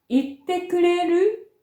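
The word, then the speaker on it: 言ってくれる: 言ってくれるは語尾を上げて発音します。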